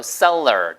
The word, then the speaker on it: cellar: 바로 cellar. 따라보세요. cellar. cellar. 판매하는 사람이라고 할 때 판매자 SELLER 그거랑 발음이 똑같습니다.